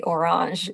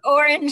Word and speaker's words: Orange: So in this case, I know you say Orange. It's very fancy, but Orange and Nokia. The French pronunciation, right?